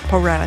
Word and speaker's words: Pro Rata: I always mispronounce this. How do you say it? R-A-T, Pro Rata, thank you.